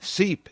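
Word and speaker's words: Sipe: heartwarming it really is seep is spelled s-i-p-e when you walk into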